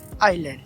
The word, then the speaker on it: island: এভাবে ISLAND আইল্যান্ড, এখানে এস এর উচ্চারণ হয়নি।